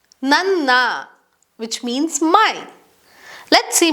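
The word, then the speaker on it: ನನ್ನ: Na is pronounced as a double na sound, which sounds like nanna, nanna, which means my.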